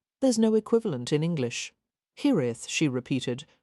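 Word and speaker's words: hiraeth: Hith, she repeated, trying to pronounce it with a tapped R, as he had.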